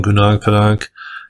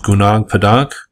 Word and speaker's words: Gunung Padang: One person asked me if I've ever made a video on Gunung Padang, and that's how I'm going to pronounce it.